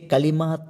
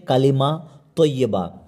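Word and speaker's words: كلمة طيبة: আজকের 2 নম্বরের দোয়া হচ্ছে কালিমা তয়্যিবা। কালিমা তয়্যিবা, এখানে কালিমা অনেকজন কালেমা বলে, কালেমা না বলে আসল উচ্চারণ হচ্ছে কালিমা তয়্যিবা।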